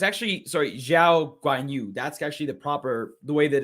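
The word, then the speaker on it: Zhou Guanyu: It's not Guan Yu Zhou, so my mistake for that. I apologize. It's, I believe it's Zhao Guan Yu is the way that they are pronouncing on air, and that's the way we should present it going forward as the name is set out.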